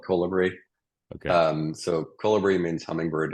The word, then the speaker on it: Kolibri: Yeah, so I don't care which way you pronounce it. I call it Kolibri.